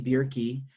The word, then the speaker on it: Bjerke: And today we have Katie Bjerke joining us. And I know I got that pronounced right because she said beer is key.